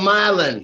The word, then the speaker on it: Milan: Is just call the town Milan? What do you call it? Milan, bro. Hey, Down here it's called Milan. Man, I feel wrong emphasis on the wrong syllable.